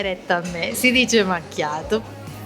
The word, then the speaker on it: macchiato: il naso e dicono: non si dice macchiato, si dice macciato. Io ogni volta gli direi: dai retta a me, si dice macchiato.